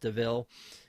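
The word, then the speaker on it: De Vil: that uh it's pronounced even though it's spelled devil it's pronounced deville um and then uh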